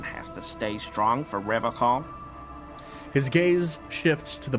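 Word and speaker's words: Revachol: But someone has to stay strong for Revocol. His gaze shifts to the pile of soggy logs at his feet. He pronounces Revocol with a hard K, unlike other people.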